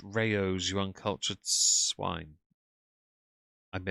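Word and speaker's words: Rao's: It's pronounced rayos, you uncultured swine.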